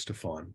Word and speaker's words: Stefan: everyone should know that the right way to pronounce your name is Stefan because you told me that that's how your parents pronounce it and who knows better